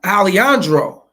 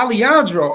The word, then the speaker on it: Alejandro: his buddy say hey uh aliandro oh Alejandro oh yeah Alejandro okay yeah Alejandro that's how you pronounce it but yeah that's